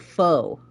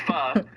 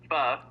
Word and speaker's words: pho: Because I said it faux place. Oh, that's not. Yeah, okay, that definitely did rage bait me. It's pho. Pho. It's spelled P-H-O.